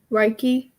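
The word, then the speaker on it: Reiki: like um is that kind of like uh raike I think it's a a little more dimensional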